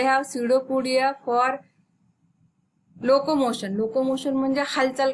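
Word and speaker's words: pseudopodia: ते सिडोपोडिया, या पीचा उच्चार इथे आपल्याला करायचा नाहीये. स्पेलिंग जरी असलं PACUDOPODIA तर आपल्याला त्याचा उच्चार पी सायलेंट आहे इथे, आणि आपण काय म्हणू त्याला, सिडोपोडिया.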